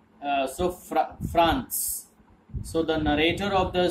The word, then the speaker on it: Franz: His name is Franz, F-R-A-N-Z. So Z will be pronounced as S. Franz.